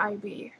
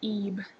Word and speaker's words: Ib: school I'm really into IB or EB sorry that's how it's pronounced it's EB it's a really good game